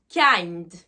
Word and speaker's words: kind: c'est la même chose le i se prononce I kind donc la première signification